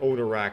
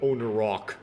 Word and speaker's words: Onarak: That being said, I am pronouncing these things like Onarak and not Onarok, but Onarak is not